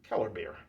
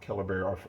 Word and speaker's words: Kellerbier: Kellerbier. Beer is not B-E-E-R, but B-I-E-R. Some places have it spelled that way, more so overseas.